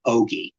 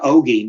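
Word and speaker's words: ogee: And in the hand was what looks like an eye on their symbols, and that eye is actually an ogi. It's spelled O-G-E-E, and the word ogi means a portal, a slit, or an opening.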